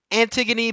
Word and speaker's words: Antigone: Anyway, it's Antigone, but it's spelled Antigone.